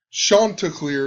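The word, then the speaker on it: Chanticleer: the College World Series Coastal Carolina shant clear is how you pronounce it I believe they equal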